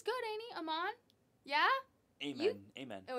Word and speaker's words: Amen: though AER yeah and that's amen mhm amen okay amen amen amen so it's literally how it's spelled amen okay okay got it